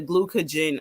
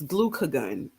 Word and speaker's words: glucagon: insulin secretion and reducing the glucogen um release I feel like I'm saying that wrong it's glucagon glucagon yeah I knew it